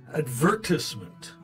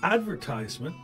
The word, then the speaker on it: advertisement: the British say advertisement the American is advertisement the British is advertisement this one is interesting because the difference is in the syllable stress of the word so the Americans stress the first cable and the British stress the second cable right but in some